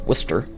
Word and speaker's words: Worcester: in well if you come from Boston it's pronounced Worcester but anyway wer V Georgia which was a